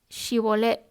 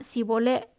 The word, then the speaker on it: Shibolet: Si aquel respondía que no, le pedían que dijera Shibolet, y si decía Sibolet porque no podía pronunciarlo de otro modo, lo agarraban y lo mataban allí mismo, junto a los vados del Jordán.